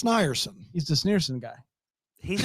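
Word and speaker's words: Snierson: It's not s neso n i e r s o n. Dan, you know him. So it's not sneer. It's snerson.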